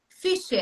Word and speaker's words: Fischer: Então, É, logo de cara, nós temos o Fischer, é isso? isso. Fischer, pronunciei É, correto, né?